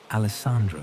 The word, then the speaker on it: Alessandro: Four syllables, each one clear and melodious.